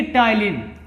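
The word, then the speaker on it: ptyalin: ठीक है, तो ये जो पी है ये साइलेंट है, टी। हाँ, यानी कि टाइलिन।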